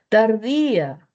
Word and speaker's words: tardía: Tardía, tardía. ¿Lleva tilde por qué? Por hiato acentual. Mayor fuerza de voz en la I, al lado de una vocal abierta.